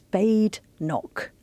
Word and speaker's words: Badenoch: Yeah, she said it's Badenoch. It's Scottish.